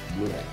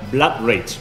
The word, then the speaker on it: Blood Rage: juegos mejor que bluray cómo ha dicho bluray se pronuncia Blood rage por favor Mira se